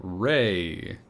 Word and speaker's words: Raye: The person who covered it was called Ray. Oh yeah, Ray. I Friend of the don't. show, Ray. Not that Ray. It's spelled Raye, and I am not familiar with her at all.